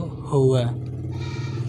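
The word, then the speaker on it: هو: penyebutannya yang pertama Hai dhomir huwa dalam bahasa Arab fushah untuk Hai penyebutan dia laki-laki di sini dalam bahasa Hai amiyahnya yaitu tertulis hwaaa namun bacanya yaitu Hoa yang kedua bahasa Arab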